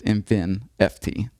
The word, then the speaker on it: InfiNFT: in fin n st it's just in fin ft I think the confusing part is that the N in the in fin is capital it makes you want to pronounce it that's good feedback lower